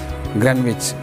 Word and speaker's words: Greenwich: Spelling is green, but you must spell or pronounce Greenwich.